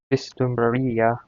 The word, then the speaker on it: vislumbraría: Vislumbraría is my first guess. Let's get a confirmation. Boom. Here. Throw out my extra profile, my Spanish profile. That has the pronunciation website on it. Throw it over here. Alright, boom. Vislumbraría.